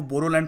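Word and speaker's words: Boro: tribe के लोग हैं वो बोडोलैंड प्रोनाउंस नहीं करते वो बोरोलैंड प्रोनाउंस करते हैं बी ओ आर ओ और खुद को बडो भी नहीं कहते बोरो कहते हैं बट मेन लैंड इंडिया में हम लोग बडो कहते हैं न्यूज़ में भी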